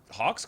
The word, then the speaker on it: Hawke: Hawke's got to walk. Hawke rhymes with walk.